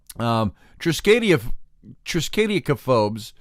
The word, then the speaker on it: triskaidekaphobes: It's the triskaidekaphobes. Triskaidekaphobes. And so it's Triskaideka, phobes, Phobes.